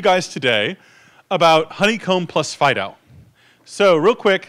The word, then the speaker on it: FD.io: basically it's yo fast data FDI OH typically pronounced Fido and the scope of this consortium is actually